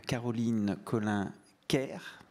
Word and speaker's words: Caroline Collin-Kerr: Voici le thème de notre petite table ronde avec nos deux experts, donc Caroline Collin-Kerr, c'est comme ça qu'on prononce?